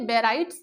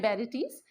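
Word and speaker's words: barytes: कई लोग इसे बैराइट्स भी बोलते हैं, वैसे जो करेक्ट प्रोनाउंसिएशन है वो है बैरेटीज।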